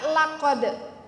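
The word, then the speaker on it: لقد: la arti nya sungguh la pendek ya jangan baca l-anya panjang kalau baca la di sini dibacanya panjang fatal salahnya la sungguh qad juga artinya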